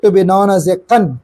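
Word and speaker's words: gan: The second gate to be known as a kun. Kun means is the g a n. Pronunciation is k a n.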